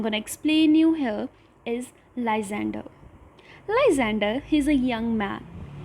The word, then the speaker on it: Lysander: I know their spellings looks a bit tricky and even their pronunciation. So let's speak together. The first one is Lysander.